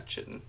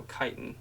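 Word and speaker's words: chitin: a needle of yeah chitten or no kiten is how you pronounce it I've heard it both ways perhaps she has missed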